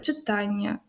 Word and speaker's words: читання: роду на Ання наприклад читання завдання переконання то наголос буде падати все ж таки на це а Ані тому що во